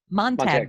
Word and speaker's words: Montag: Montag. Montag Group. Not Montauk, Long Island, Montag, and a talent agent